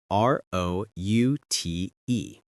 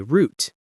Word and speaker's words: route: It's spelled R O U T E. And in American English, we say route. In British English, sometimes they say route.